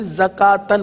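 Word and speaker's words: زكوٰة: कलमा आ रहा है जकात लिखा हुआ है वाव भी लेकिन वह वाव साइलेंट है इसके ऊपर कोई भी हरकत नहीं है लिहाजा इसको भी जका तन पढ़ेंगे आइए इसको भी पढ़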